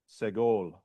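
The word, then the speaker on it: סגול: Now you have the segol, okay, which is the three dots. Looks like a triangle of dots, okay, and that being under the consonant. All right, and that's like met.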